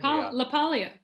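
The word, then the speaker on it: LaPaglia: funny I love that Anthony Anthony um leag laalia there there you go there's the correct pronunciation I love I love him he's fantastic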